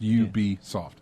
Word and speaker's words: Ubisoft: is it Ubisoft and they said originally it was called ubiquitous software mm-hmm and that's how we got Ubisoft yes so you just take your BIC witness and then you beat there you go exactly like you pronounced you be soft yeah oh yeah I